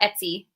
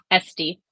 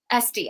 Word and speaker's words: Esty: It's not Etsy. Esty. Esty. I was like, I know I'm saying it wrong.